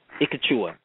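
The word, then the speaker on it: Ek Chuah: It's Ikachu. I might be pronouncing this wrong. It's Ikachua. And it's EK-CHU-AH.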